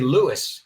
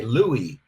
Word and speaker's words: Louis: Armstrong we don't say Louis in English we say Louie like with the French pronunciation remember there's a lot